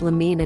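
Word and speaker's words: LMNA: Progeria is caused by the mutation ELNA, pronounced lamine A gene.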